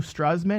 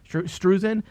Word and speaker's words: Drew Struzan: Drew Struzman. Is that how you say his name? Okay. Lucasfilm also unveiled a new Drew Struzan. Is it Struzan or Struzan? Struzan. Struzan. Drew Struzan style poster for the series, which you can view below.